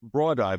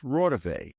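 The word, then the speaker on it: Raudive: And of course, I immediately Google the name, and I realize as I'm Googling the name, it's not Rodive. He mispronounces it. It's Rodive.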